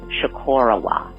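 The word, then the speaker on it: Chocorua: I just wanted to make sure that you had the correct Abenaki pronunciation because you folks may have got the wrong pronunciation. Actually, I know you did. It is Shikorowa.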